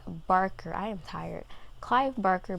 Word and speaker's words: Barker: i read another clive baker why do i keep saying baker clive barker i am tired clive